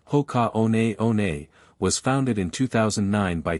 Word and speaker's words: Hoka One One: Hoka 111, pronounced Hoka on on was founded in 2009 by two French trail runners.